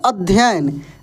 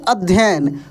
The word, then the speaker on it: अध्ययन: अध्ययन क्या लिखा है अध्ययन देखिए अ आधा ध फिर य देखिए और एक और य होगा तब जाकर न होगा कैसे इसको हम लोग पढ़ेंगे अध्ययन और लिखते समय भी